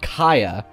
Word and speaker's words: K'Aya: So a character would be called Kaya, but it would be K'Aya. So her name would be Aya, but she has to have the prefix of the tribe in front.